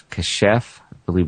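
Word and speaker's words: כָּשַׁף: In the Old Testament uh the Hebrew word uh it's casheff pronunciation and it relates to sorcery or witchcraft.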